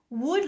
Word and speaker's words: would: how do we pronounce wood wood like wood wood from a tree wood would like Hood it's the same H sound uh not ooh would Hood I hope you're practicing